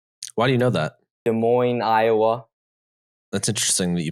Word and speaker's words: Des Moines: states lincoln nebraska why do you know that des moines iowa that's interesting that you pronounced it right too desmond um i feel